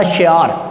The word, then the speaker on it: شعار: شعار۔ تلفظ واضح ہوگا، شین کے نیچے زیر، این کے اوپر زبر، اور رے پر آپ لگائیں گے جزم، تو لفظ بنے گا شعار۔ لفظ ہے متمول۔ اب